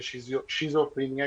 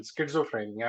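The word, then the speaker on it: schizophrenia: بھی، جس کو ہم عام زبان میں شیزوفرینیا کہتے ہیں، جس کی करेक्ट प्रोनाउंसिएशन स्किज़ोफ्रेनिया है।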